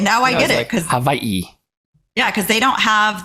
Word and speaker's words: Hawaii: Because Hawaii. Yeah, because they don't have the W in their language. I think Germany doesn't have a W either. They spell it with the W, but it's pronounced a V, and it's the same way here.